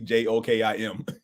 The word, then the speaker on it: Joakim: His name, I know it's spelled like it might be Joakim, but it's actually Jokim, and it's pronounced phonetically.